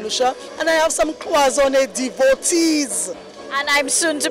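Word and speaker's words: cloisonné: So I know you have some materials like, am I saying it right? Is it cloisonne? Cloisonne, yes.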